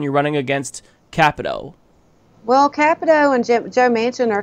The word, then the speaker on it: Capito: back hey Mike and that's Shelley Moore Capito actually capital i've been pronouncing that wrong forever what everybody mispronounce is